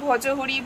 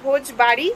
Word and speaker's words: ভোজবাড়ি: আমার বান্ধবীর কাছে জেনে ভোজবাড়ি যেটা আমি কাল থেকে রং উচ্চারণ করছি যে ভজহরি ভোজপুরি কি সব বলে বলে যাচ্ছি যাই হোক এটা হচ্ছে ভোজবাড়ি নাম আর এই ভোজবাড়ি কেমন